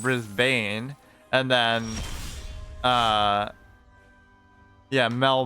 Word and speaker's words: Brisbane: that's an N issue like brisben instead of Brisbane and then uh yeah